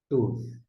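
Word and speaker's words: טוֹב: Veja bem, nós temos o TET, o Vag-Holen, que é o O, e o VET, que tem o som de V. Aí a gente vai pronunciar TUV.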